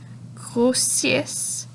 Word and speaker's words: grossissent: Les tomates vertes grossissent et rougissent. On ne prononce pas le ENT des verbes, donc grossissent, rougissent.